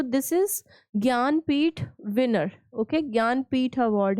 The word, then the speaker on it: ज्ञानपीठ: इज़ ज्ञानपीठ winner okay ज्ञानपीठ award है इसको ऐसे प्रोनाउंस करना है आपको ग जे एन गिय okay ज्ञानपीठ winner Vinod Kumar Shukla